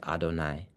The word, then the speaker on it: Adonai: Um and then there is a time that is illuminated by the name Adonai Yud Vave which we pronounce as Adonai which is important to